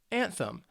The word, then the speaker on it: anthem: this is a noun it's two syllables and the stress is on that first syllable and thumb anthem and an anthem is